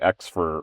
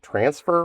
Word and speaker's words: Xfer: I I guess you I pronounce that Xfer Records. In my head, I always think about it as being transfer records.